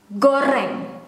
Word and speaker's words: goreng: Indonesian G is G. It is similar when you have to pronounce go or ga, ga, goreng.